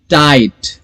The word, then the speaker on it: tight: टाइट, TIGHT, टाइट. फिर से वही कि I प्रोनाउंस करेंगे, GH को प्रोनाउंस नहीं करेंगे.